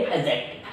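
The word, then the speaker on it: adjective: क्योंकि ए और जे, मैंने क्या बोला, ए और जे, देखिएगा यहाँ ध्यान दीजिए, ए और जे के बीच आने वाला डी होता है साइलेंट। ए और जे के बीच आने वाला डी क्या होता है? साइलेंट। यही कारण है हम कहेंगे एडजेक्टिव।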